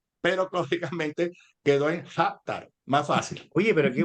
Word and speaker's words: Jatar: Y sí, tal cual lo dijiste, Hatar. Jatar, Es libanés. Esa J no libanés. existe tú sabes, fonéticamente en árabe es tar, tar, pero lógicamente quedó en Hatar, más fácil.